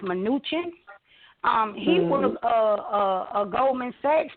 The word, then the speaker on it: Mnuchin: The man that he picked for the Treasury Secretary, I think his name is Stephen, I think it's pronounced Mnuchin.